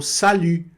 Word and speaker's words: salut: E aqui já aparece também mais um destaque de pronúncia, que é o I. I, o famoso I, que muita gente tem muita dificuldade nesse que é o U, né, que a gente lê U, mas que a pessoa